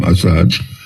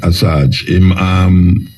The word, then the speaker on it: Assange: Julian Assange, that's how I pronounce his name, Assange. Yeah, Assange.